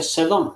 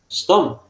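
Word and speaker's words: סדום: Por ejemplo, la palabra eh, Sdom, ¿ya? No se dice Sedom, sino Sdom.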